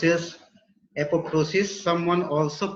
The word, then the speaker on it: apoptosis: It is pronounced as apoptosis. Someone also pronounce it as apoptosis, where P is silent. Usually P is silent, and therefore you should pronounce it as apoptosis, right?